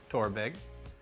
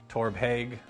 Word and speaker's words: Torabhaig: know we've talked about how to say the name tour big and uh if i get it wrong at any point it's because i'm still figuring it out i definitely called it uh torbeg for a little bit